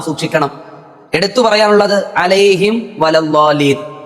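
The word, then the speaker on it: عَلَيْهِمْ وَلَا الضَّالِّينَ: എടുത്തു പറയാനുള്ളത് അലൈഹിം വലല്ലാലീൻ. ഇവിടെ പലരും ഓതുന്നത് അലൈഹിം വ, അതായത് മീം മറയുകയാണ്. ഇവിടെ ഇദ്ആമും ബിഉന്ന എന്ന രൂപത്തിലാണ് നമ്മൾ എല്ലാവരും ഓതുന്നത്. എന്നാൽ അവിടെ ഇൽഹാർ എന്ന രൂപമാണ്. വെളിവാക്കണം വ്യക്തമായി തന്നെ മീമിനെ, അലൈഹിം വലല്ലാലീൻ.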